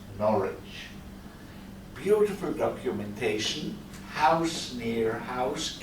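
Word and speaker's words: Norwich: of norid in England you spend nor with the w we English men we pronounce norch beautiful documentation House near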